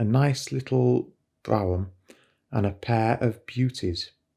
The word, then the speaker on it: brougham: The word should be pronounced brougham.